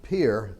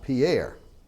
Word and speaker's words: Pierre: And we pronounce it Pierre and not Pierre.